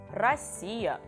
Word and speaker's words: Россия: Number 1 is Россия, and number 2 is рубль. So can you try to pronounce the same words with P sound?